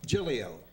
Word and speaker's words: Giglio: Giglio. Oh, that's easy. The second G is silent.